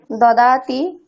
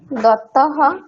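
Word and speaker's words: ददाति: নরেভ্যহ ঠিক আছে তবে দতির উচ্চারণটা একটু ভুল হচ্ছে দাদতি দৌতি নয় ঠিক আছে দতি দাদতি যেহেতু ওখানে কোন দীর্ঘর কোন ব্যাপার নেই কোন টান হবে না দাদতি ঠিক আছে হ্যাঁ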